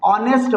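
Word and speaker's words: honest: है ऐसा इसलिए कि इसमें एच हमारा साइलेंट है जब एच हमारा इसको नेस्ट तो पढ़ते ही नहीं है नेस्ट नहीं पढ़ते हैं ऑनेस्ट पढ़ते हैं नेस्ट नहीं पढ़ा जाएगा गलत प्रोनंसिएशन हो जाएगा ऑनेस्ट ऑनेस्ट मींस ईमानदार नेस्ट नहीं नेस्ट नहीं ऑनेस्ट आ आ का आ की आवाज आ रही है नेस्ट नेस्ट नहीं ऑनेस्ट ऑनेस्ट इसलिए यहां पर एच साइलेंट है तो ओ क्या है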